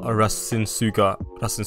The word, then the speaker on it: Rasengan: All right guys, now we've reached level 400 with our bloodline, which means we can unlock the next move, core style Rasengan.